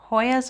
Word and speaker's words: hoya: this easy with the ahoya plant hoyas are a little bit different not ahoya did i say it wrong it's just a hoya okay eight not a